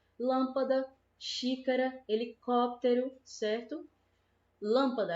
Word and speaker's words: lâmpada: lâmpada xícara helicóptero certo lâmpada a gente fala lâmpada lâmpada ou lâmpada que puxa mais a gente percebe que é Alan que é a antepenúltima sílaba né olha o caso